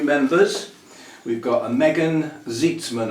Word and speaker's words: Zeitzman: We've got a Megan Zeitzman, I presume that's pronounced, Z-E-I-T-S-M-A-N, Zeitzman.